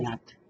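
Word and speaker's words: Cuñat: Seu sobrenome do meio, como é que pronuncia? Cunhat. Cunhat. É nome valenciano.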